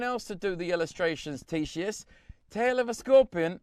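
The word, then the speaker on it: Ctesias: this is described by described by greek author tshis yeah i pronounced that correctly it's spelt c te s IAS and i go good it and spent ten minutes learning how to pronounce it t sheís so i mean you could have just written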